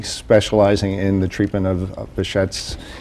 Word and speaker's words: Behçet: the treatment of bashet I have to compliment you on your pronunciation of the the condition because most Americans say bé disease like the uh the jazz musician all right in Turkish I think it's actually bead's disease oh okay well I